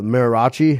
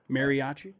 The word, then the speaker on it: mariachi: a like a mayor what is that miraci how do you say it Mariachi yeah mariachi band yeah and they want